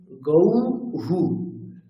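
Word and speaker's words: গৌঃ: ঔকার বিসর্গ হুম তাহলে তার উচ্চারণটি কেমন হবে গৌহু গৌহু ঠিক আছে থ্যাঙ্ক ইউ আচ্ছা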